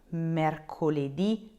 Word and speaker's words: mercoledì: them, with lunedì, martedì, mercoledì, giovedì, venerdì, so Monday through Friday, you will need to put a little accent on that last letter.